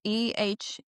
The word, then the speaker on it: Erlick: Ehrlich, and I'm probably saying it wrong. It's Nikki Ehrlich. Erlick. Yes.